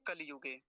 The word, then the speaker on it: कलियुग: दिन बता रहा था कुछ लोग क्या बोलते कलयुग जैसे कलयुग कह देते कलयुग नहीं होता कलियुग कली हर स्वीकार की मात्रा जरूर बोलेंगे कलियुगे ऐसा करके बस आसान